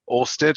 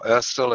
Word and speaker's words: Ørsted: Ørsted, as we would say in English, or Ørsted, as a Dane would roughly say, is a company